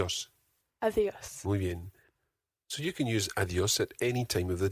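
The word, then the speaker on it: adiós: in spanish is adios adios adios try to get that soft d in there again think of the word the adios of the earth of the earth so you can use adios at any time of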